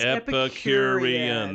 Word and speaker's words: Epicurean: It's Epicurean. That is 5 syllables, and I don't usually get past 2.